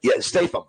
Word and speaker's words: Statham: How do you pronounce his name? Statham.